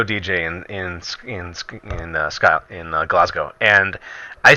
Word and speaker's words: Glasgow: in relationship to Glasgow they go all mate it's Glasgow I was like oh excuse me it's glasgow glasgow glasgow and so from that point on I've never forgotten glasgow glasgow it's pronounced glasgow and bro that has